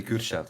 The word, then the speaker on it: Kürşat: Kurshad or Kurchad? It's actually Kürşat. It's a Turkish name. Kurshad. All right. Yeah. Leopard. German U, like U, but doesn't matter.